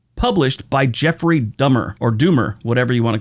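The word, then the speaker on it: Dummer: by Jeffrey Dahmer, or Doomer, whatever you want to call him. But it's spelled D-U-M-M-E-R. I think that's Doober, but it's Dumber.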